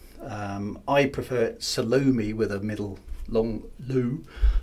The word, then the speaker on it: Salome: You know, there's multiple ways to pronounce Salome. Some people just say Salome. Some people say Salome. I prefer Salome with a middle long loo, but that's just me.